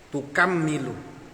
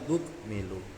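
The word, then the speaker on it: تُكْمِلُوا: Nah kalau kita ikut yang takhfif, kalau ayat ini kita bacanya walitukmilul iddatah, bukan pakai tukammilu. Nah, yang baca tukammilu niku Imam Syu'bah kalau saya tidak salah. Kalau tukmilu niku jumhur ulama membacanya tukmilu.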